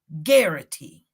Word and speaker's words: Garrity: it's called when officers it's g-a-a-r-i-t-y it rhymes with Clarity it's called guarantee that's